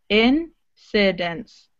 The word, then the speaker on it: incidents: So you're doing e instead of eh. Again, the same issue as some of the other students. That sheep situation. So in this word, you've got two short I sounds.